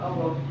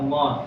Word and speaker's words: Allah: Kalau tebal dia itu lafzul jalalah atau ee lafaz Allah sebelumnya itu dia fathah atau gomar. Kalau tipis sebelum lafaz hullah itu adalah ka kasrah.